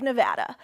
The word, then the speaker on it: Nevada: we love it and you always have to say it correctly Nevada you a got to go Nevada with thousands of proud